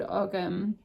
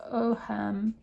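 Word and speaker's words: Ogham: It shows the symbols called Ogam, I've pronounced it wrong, pronounced Oham, Ogam, which is an early form of Irish writing placed around concentric circles.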